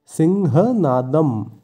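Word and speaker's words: সিংহনাদং: যেহেতু প্রথমে দন্তস্ব আছে তাই শয়ের উচ্চারণটা হবে স, স কিন্তু নয়, স, তাই উচ্চারণটা হবে সিংহ। এবং এরপর আছে নাদম। কোনো শব্দের শেষে অনস্বর থাকলে সংস্কৃতে অনস্বরের জায়গায় ময়ের উচ্চারণ হয়, তাই শব্দটির উচ্চারণ হবে সিংহনাদম।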